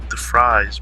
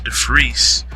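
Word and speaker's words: De Fries: defreese it's funny because it's spelled the fries but it's the freeze um you know uh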